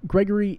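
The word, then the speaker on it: Grigory: him to Gregory and it's Gregory but it's spelled with an I so I believe it's Gregory though and Gregory is the top scientist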